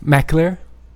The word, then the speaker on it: McAlear: your personal Flair first of all could you pronounce my last name again Mac clear is that right oh good yeah I always